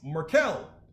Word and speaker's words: Markel: like better you spelled you said my name wrong it's merkel so i better go